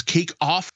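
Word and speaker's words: Cake Auf: There was Cake Off, that's spelled A-U-F, from Julie Chen.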